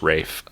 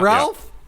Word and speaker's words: Ralph: no no it's ra it's pronounced Rafe what it's not Ralph no I've been calling